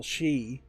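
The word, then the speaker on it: 四: they didn't want to call it Silent Hill Shi, which is Japanese for F, but no, Japanese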